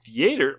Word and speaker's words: theaters: And theaters, why am I emphasis on the wrong syllable today?